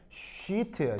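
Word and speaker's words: sheet: 그래서 이거 어떻게 쉬트야, 쉬트. 알겠어요? 자, 그러니까 미국 사람들도 이게 잘못 발음할 수 있다라는 걸 아는 거야. 그래서 이런 거 발음할 때 길게 쉬트, 히트, 비치. 알겠죠?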